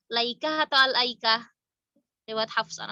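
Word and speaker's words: الأيكة: Sama riwayat Hamzah dan Kisai itu dibacanya al-aikah, bi at-ta'rifiyah qabla al-hamzah. Jadi dibaca al. Jadi kalau ada pertanyaan di surat Asy-Syu'ara sama Shad, al-aikah dibacanya laikah atau al-aikah?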